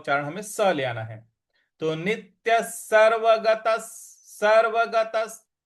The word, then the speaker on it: सर्वगतः: अतः नित्यः सर्वगतः, सर्वगतः; 'गताह' के बाद आने वाले विसर्ग का उच्चारण भी 'सह' की तरह ही किया जाना चाहिए।